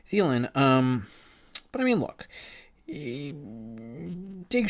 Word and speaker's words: Thielen: I keep saying his name wrong. Thielen.